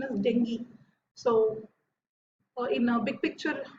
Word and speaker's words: dengue: But remember, actually I called it dengue, but actually the pronunciation is dengue.